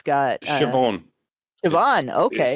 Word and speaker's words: Siobhan: All right, you might not be any better at this, but it's spelled Siobhain, and it looks like it's Irish because it's got Siobhan. Siobhan, okay.